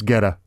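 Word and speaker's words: Goetta: G-O-E-T-T-A. I think it's Geta. Geta. Yeah. Okay. Like the DJ, maybe.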